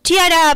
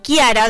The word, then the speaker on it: Chiara: menos contexto sobre esto Chiara paes o Kiara Depende como lo algunos lo conozcan o se pronuncie el nombre fue una joven